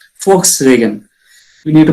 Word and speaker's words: Volkswagen: Not a Volkswagen. It is a Volkswagen. We need to spell Volks. F. We need to actually in this German word we have to be spelling to the F. Volkswagen.